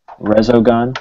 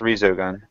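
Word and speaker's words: Resogun: me looked just like rezo gun yeah okay so I actually think it's pronounced Rizo gun is it if that's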